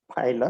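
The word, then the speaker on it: Pila: Okay, तो Loligo डेंटालियम पाइला, इसको पीला नहीं बोलने का, ठीक है, इट इज पाइला।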